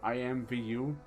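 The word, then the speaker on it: IMVU: Second Life characters or I IM Vu it's spelled like the letters i IM Vu I it was like I IM Vu it's another one of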